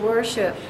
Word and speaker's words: worship: or as in first now we have another phonogram in which we have a w at the beginning but we don't sound it believe it or not this is an ER that's why I'm telling you English is strange or ER as in worship and you have to underline all three as in worship worshiped no otherwise you would say War it's unusual isn't it